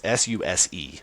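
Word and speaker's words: SUSE: And uh for anyone listening that is in that boat, it's Sus, which is part of the challenge, too, is it isn't said like, you know, you don't say it like it like it's spelled.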